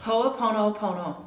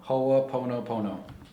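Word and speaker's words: Hoʻoponopono: cool yeah I love it how do you pronounce this again HOA Pono Pono HOA Pono Pono so go ho that's and then the dot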